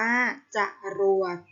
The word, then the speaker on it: จรวด: กนก อ่าน ว่า กนก จรวด อ่าน ว่า จรวด จริต อ่าน ว่า จะ